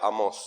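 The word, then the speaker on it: Amós: es el libro de amos lleva acento en la hablo amos habló en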